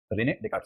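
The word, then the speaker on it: Descartes: इसकी स्पेलिंग से नहीं पता, डेस्कार्टस लगता है, लेकिन इसका नाम डेकार्ट है या डेकार्ट है। रेने डेकार्ट 17वीं सेंचुरी का फिलोसफर है।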